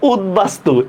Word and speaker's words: উদ্বাস্তু: এটা হচ্ছে দেখেন, উপসর্গের সাথে বফলা যুক্ত হলে সেটার উচ্চারণ বহাল থাকে। তো দেখেন উদ্বাস্তু, এটাও তো সন্ধিবদ্ধ হয়, ঠিক না?